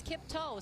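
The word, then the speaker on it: Kiptoo: so did kim too he actually said it's kiptoe so you know there's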